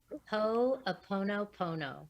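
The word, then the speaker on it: Hoʻoponopono: Oponopono, which is HO apostrophe O PONO PONO.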